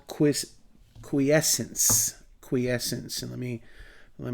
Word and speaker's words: quiescence: phase now those that dormancy is called quiz quiescence quiescence and let me let me spell that out for you here it's qu I